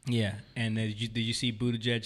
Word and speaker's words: Buttigieg: Buttigieg. Okay. Yo, hold up. It's spelled like booty judge. So he's- butt gig. Booty Booty judge.